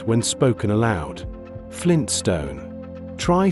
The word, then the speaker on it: Flintstone: The first T, the one after the N, tends to be very lightly pronounced. In connected speech, the tongue touches the ridge behind the upper teeth briefly and then moves quickly into the S. The transition is fast.